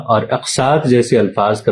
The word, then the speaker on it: اقساط: یعنی غلط طور پر املاک، اضلاع اور اقساط وغیرہ بولا جاتا ہے، حالانکہ اس طرح